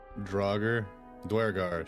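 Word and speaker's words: duergar: Droger Dwar, sorry. Yeah, I learned how to say it properly because of Vul's gate. Ah, yeah. fighting three dwagar and then in parenthesis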